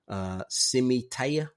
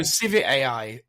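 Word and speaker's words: Civitai: Simitea? Oh no, Civit AI.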